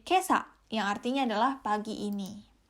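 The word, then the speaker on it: 今朝: ini dibacanya kotoshi Terus kalau ditambahkan dengan kanji pagi ini dibacanya menjadi Kesa yang artinya adalah pagi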